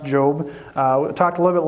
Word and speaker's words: Job: Sounds like Job, but it's pronounced Job.